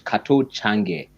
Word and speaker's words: Kato Change: So my name, the pronunciation of my name is Kato Change, but it Okay.